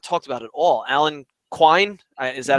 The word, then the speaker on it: Alan Quine: And a guy that we have not talked about at all, Alan Quine, is that how you say his name?